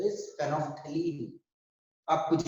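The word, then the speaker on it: phenolphthalein: Paraffin देखो बहुत बच्चा इसके नाम को प्रोनाउंस करने में दिक्कत करते हैं। एक्चुअली ये है फेनॉल, फेनॉल पैथिलीन, फेनॉल पैथिलीन, हम लोग इसको कंबाइन में फेनोफ्थलीन बोलते हैं, ठीक है ना।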